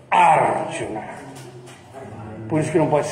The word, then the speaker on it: Arjuna: Arjuna, não é Arjuna. Porque se fosse Arjuna, se fosse assim, se esse U fosse longo, essa sílaba seria guru, aí sim, Arjuna.